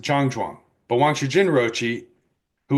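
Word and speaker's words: 站桩: In Mandarin, it is pronounced Zhangzhuang, but Wang Shujin Roshi, who was born in Tianjin, pronounced it as Chanron.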